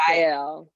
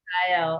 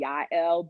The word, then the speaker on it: Jael: Is it Jael? How do you say that? Jael. Jael. And I think in the Hebrew it might be Yael, but you know, we would say Jael.